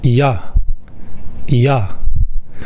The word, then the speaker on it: ㅑ: “ㅑ” sound is similar to “ya” sound from “yacht”. “yacht” “yacht” “ya” “ya” “ㅕ” sound is similar to “yeo” sound from “young”.